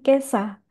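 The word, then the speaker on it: 今朝: Satu lagi di sini saya tambahkan ada bunyi kesa. Jadi ini cara bacanya beda lagi ya.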